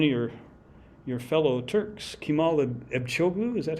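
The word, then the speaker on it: Kemal Ebcioğlu: 1980s um one of your your fellow Turks kimal echu is that how you pronounce it yeah yeah um he worked at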